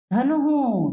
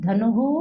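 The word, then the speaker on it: धनुः: और धनुहु, धनुहु यहाँ पे छोटा ऊ है इसलिए हु उच्चारण हुआ।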